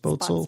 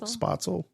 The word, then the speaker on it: Spoetzl: Shiner brewery and the How do you say their actual just the old name? The Spoetzl brewery? I think that's how you say it. Spoetzl Spoetzl. I'm sorry.